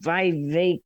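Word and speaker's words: Vivek: this uh guy named VI rhymes with cake ramaswami I can't find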